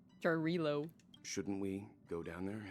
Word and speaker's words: Jarilo: I was saying Jarlavo. Like, I've been saying it wrong the whole time. Jarilo.